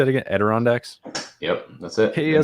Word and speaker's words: Adirondacks: Adirondacks?